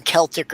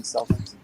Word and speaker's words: Celtic: more popular in america we started using the word celtic but they're spelled the same and we still call the basketball guys celtics yeah you know even